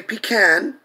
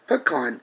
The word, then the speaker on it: pecan: in Louisiana is Choctaw we don't say pecan because we've inherited the correct pronunciation pecan it's chomped on we